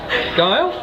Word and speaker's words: Guile: I'm very pleased to introduce Sharon Joy Guile. Yes, like rhymes with smile.